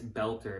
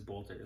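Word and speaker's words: Boelter: Vance Belter apparently is the name. I was saying the name wrong. I thought it's Bolter.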